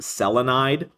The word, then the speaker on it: selenide: this one is selenium Because the I is already there, it becomes it's pronounced selenide.